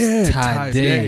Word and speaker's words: Tadai: I told you it was Sade with a T. See, we Anyways, Tadai. Yes. So it's pronounced Tadai.